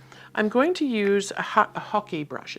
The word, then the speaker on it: hake: It's called hockey. I've been pronouncing it wrong, apparently. I've been saying hake or hake. I've learned that it's called a hockey brush, just like hockey, the game we play.